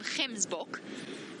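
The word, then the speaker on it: gemsbok: just by the way we call them Kim's book g e Ms B's book that hard G and Africans and they are they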